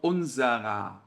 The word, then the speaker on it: unserer: Na hora de pronunciar, esse ER soa como se fosse um A de Alex. Então, unserer, tá?